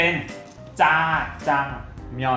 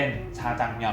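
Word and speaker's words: 자장면: คือ ตัว นี้ ครับ ราชบัณฑิตยสถาน เกาหลี กำหนด แล้ว ออก เสียง ได้ 2 แบบ เนื่อง จาก เขียน ได้ 2 แบบ จะ เป็น จา จัง มยอน ก็ ได้ หรือ จะ เป็น ชาจัง มยอน ก็ ได้ ถ้า ตัว นี้ จะ ออก เสียง ยาก นิด นึง มัน จะ เป็น ช้าง กึ่ง จาน นะ เพราะ ฉะนั้น อัน ที่ ง่าย และ ถูก แล้ว ด้วย ก็ คือ จา แบบ จอ จาน หนัก ๆ ไป เลย จา จัง มยอน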